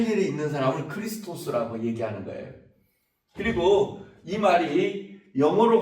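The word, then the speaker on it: Χριστός: 어 읽기로는 크리스토스 이렇게 읽거든요. 크리스토스라고 읽는데요.이 말의 뜻은 비슷한 의미인데 뜻으로 이렇게 옮겨가게 됩니다.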